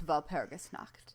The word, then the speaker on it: Walpurgisnacht: Yeah, I put the emphasis on the wrong syllable. It's Walpurgisnacht.